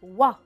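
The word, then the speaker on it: oie: une wa يعني الوزة. une wa كتير هينة نلفظها wa، بس نتذكر إنه نحط لها E muet لأن c'est un nom féminin.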